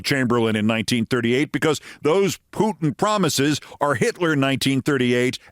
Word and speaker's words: Putin: Eight pages of things like how to pronounce the name Putin. P O T I H N. Just think poo.